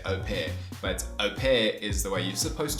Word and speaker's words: au pair: essentially a parent but the way you do pronounce it is au pair although if you haven't noticed i say au pair a lot and i just can't bring myself to say au pair but au pair is the way you're supposed to say it